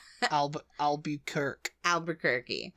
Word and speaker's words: Albuquerque: albu albu used to say Al ALB kerk Albuquerque Albuquerque yeah albir Al ALB quir quirky qu but